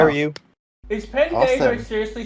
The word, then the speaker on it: pendejo: Is Pendejo seriously spelled Good man. Pendejo? No, it's yes, but it's pronounced pendejo.